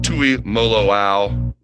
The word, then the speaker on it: Tuimoloau: Let's start right at the top, JT Tuimoloau. How'd I do in my pronunciation there?